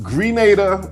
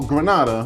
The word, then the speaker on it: Grenada: States for many Goods the island can be pronounced Grenada or Granada when Spanish people say it airports are located on